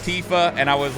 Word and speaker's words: Tifa: stupid like like tifa's name I remember pronouncing it when I was younger as tiffa instead of Tifa which like Tifa Tifa